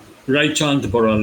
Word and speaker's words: Raichand Boral: yeah, his name is Yeah, Raichand Boral. Am I pronouncing yeah, it correct? yeah. Right chant Boral, yeah.